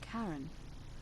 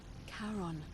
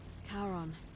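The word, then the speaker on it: Charon: it's just as you descri it only your pronunciation is a little off the name you heard wasn't Karen it was c h a r o n as in karon the Fairman of the Dead karon who in exchange for the right coin helps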